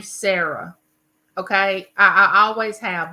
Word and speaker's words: Sarah: they would always say sah instead of Sarah and if somebody called my daughter Sarah and I named her Sarah I would just have chills go up my back and slap me in the back of the head you know cuz my grandmother would have been the first one to call her SRA instead of Sarah so I did not